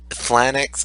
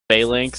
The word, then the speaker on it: Phalanx: Flanix is how I would pronounce it. So Flanix, E-Flanix, yeah, Eflanix, Flanix. Flanix. No, No, Phalanx, Phalanx, E-Phalanx.